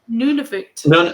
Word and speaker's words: Nunavut: So, all of Canada's provinces and territories, except for, how do you pronounce None this? of it. Nunavut.